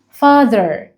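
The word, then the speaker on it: father: عائلتي عندي اب يعني فاذر فاذر فاذر مهم قوي قوي وانا بنطق الكلمه دي يا كتاكيتي يا صغننين ان احنا نطلع لساننا لما نيجي ننطق التي اتش فبقولها فاذر فاذر فاذر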